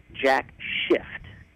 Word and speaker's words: Jack Shift: the Lancaster area called, now I'm going to pronounce this properly here, Jack Shift, S-H-I-F-T. So I don't want to get kicked off the air here.